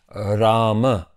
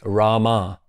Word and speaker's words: Rama: In Sanskrit, it would be pronounced Rama, with the last letter fully pronounced.